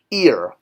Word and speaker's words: ir: the extra detail now this is pronounced ear i r so kind of like Iris that's how I think